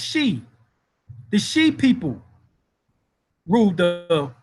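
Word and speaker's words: Xi: omega the she empire x i pronounced she the she people ruled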